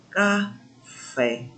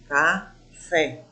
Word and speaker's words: café: Sei que vocês, uma hora dessa, estão gostando aí do café. Café. Olha, café. Quem é a mais forte? Quem é que eu pronuncio com mais intensidade? Fé.